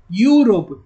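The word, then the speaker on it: Europe: அப்போ இதை ப்ரொனவுன்ஸ் பண்ணுங்க, யூரோப்.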